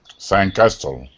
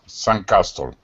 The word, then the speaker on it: sandcastle: sandcastle yeah um sand so we do emphasize the first syllable so it's sand castle the d is almost silent so it's kind of a swallowed sound so sand castle yes san castle good sand castle and flip-flops